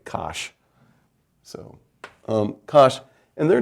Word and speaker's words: cosh: abbreviated cos h and that's pronounced phonetically kosh so um gosh and